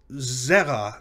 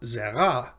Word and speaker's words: zera: And the word zera, meaning seed, also has two syllables, and it's also zera, not zera, right? So it's the first of two of its two syllables is accented, makes it segalit, even